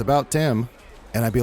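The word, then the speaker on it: Thyme: is the last one Tim yeah how do you spell that t h y m h Yeah Tim okay that makes sense yeah that's what my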